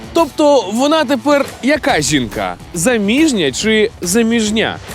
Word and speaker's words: заміжня: думаю теж заміжня заміжня заміжня Саме так заміжня наголос на звук І а от у слові